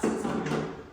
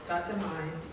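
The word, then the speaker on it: tatemae: It's not Tatami. Spell it. Rumi, what? It's Tatemai, Tatamai? right? Tatemai and Hone, right?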